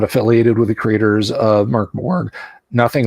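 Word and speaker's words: Mörk Borg: than the Swedish chef, use the sweetest pronunciation of Mork Borg. Rhymes with work story.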